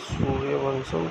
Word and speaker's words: सूर्यवंशम: सूर्यवंशम pronounced bye सूर्यवंशम translate solar dynasty 1999